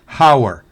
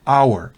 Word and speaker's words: hour: es famas sino Thomas la H es muda en Hour no es Howard sino Hour hora la H es muda